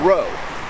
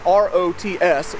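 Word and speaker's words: Rots: town right here this is the town of row it's spelled r-o-t-s so an american redneck like me would have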